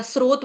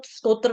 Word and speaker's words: स्रोत: जल के स्त्रोत्र या स्रोत बोलेंगे इसको स्तोत्र नहीं कहेंगे। स्रोत कहेंगे।